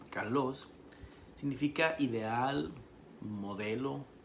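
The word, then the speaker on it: καλός: Cuando en griego aparece el vocablo kalos, K de kilo, A-L-O, acento en la O-S, kalos, significa ideal, modelo o excelente.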